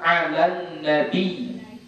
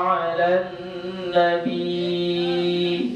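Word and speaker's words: على النبي: Biasanya bilal-bilal di kampung kita, muazin-muazin di kampung kita itu memanjangkannya. Jadi dia baca Inna Allaha wa malaikatahu yusalluna 'alan nabi. Gitu. Ya, dipanjangkannya. Sebenarnya tak boleh. Ya, tidak dipanjangkan. Kenapa? Karena ya yang ada di situ dia bertasydid. Jadi nggak dibaca panjang. Jadi cara bacanya ditekan. Ya, dia ditekan.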